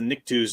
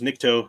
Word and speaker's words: Nikto: Tom Spiegel's asking about the Niktos. Nikto, I might be pronouncing it slightly wrong. I think it's Nikto.